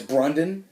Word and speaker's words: Brandon: with Jonah Hill as Brundon. I thought that was the funniest part. And, his name tag said Brandon, but he pronounced it Brundon.